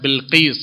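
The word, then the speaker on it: بلقيس: Change कर दिया है, कोई जो बिलकिस बोलता है लेकिन सही प्रोनाउंसिएशन है बिलकिस है, तो जैसे खदीजा को लोगों ने बिगाड़ दिया, कोई खुदैजा कोई खुतैजा कोई खदीजा, सही है खदीजा।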